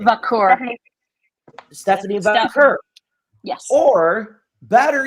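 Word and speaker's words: Vaquer: Vakur.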